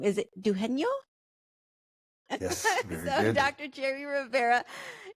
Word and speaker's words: Dugenio: the last part of your name is it dueno yes very Dr Jerry Rivera dueno thank you so much for being on the